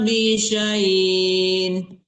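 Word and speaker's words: بِشَيْءٍ: La yaqduna bi syai'in. Kok bisain lagi? Bisyai. Bisyai. Ya, dipentokin ya, bisai.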